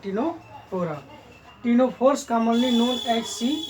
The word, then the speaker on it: Ctenophora: P is silent, so these are called Ctenophora.